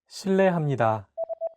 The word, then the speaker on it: 실례합니다: While this character is transcribed as an R and an L, don't pronounce it like an English R. Listen to how Jay is pronouncing this sound. 르, It sounds like a mixture between an R and an L sound.